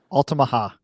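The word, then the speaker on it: Altamaha-ha: the Alama how do you say it again alaha alaha okay the alaha and the creature is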